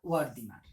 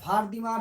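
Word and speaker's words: Wertheimer: Kafka, German মনোবিদ তিনজন, Kafka, কোহলার আর ওয়ার্দিমার। Kafka, কোহলার আর হচ্ছে ওয়ার্দিমার বা ওয়ার্দিমার বা ভারদিমার, বিভিন্ন উচ্চারণ থাকতে পারে।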